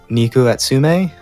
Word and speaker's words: Neko Atsume: really jump out at you I think you pronounce it neko atsume VR for neko atsume yep neck OS to me yeah Abby loves